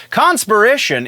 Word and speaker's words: Conspiration: spider-man's book is conspiracy conspiration i'm sorry i keep wanting to say that differently and putting the emphasis on the wrong syllable but conspiration is the new villain's